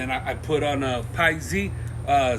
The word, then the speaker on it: Piexi: like you know what the x you really pronounce it like the z in a lot of words you know like zero